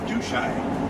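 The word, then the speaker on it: Tutshi: we're coming up on Lake do shine that is spelled tu TSP I and it's a fantastic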